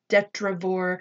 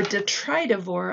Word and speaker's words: detritivore: are sometimes considered to have a detrivore or detritivore i'm sorry i keep mispronouncing that word detritivore function and so they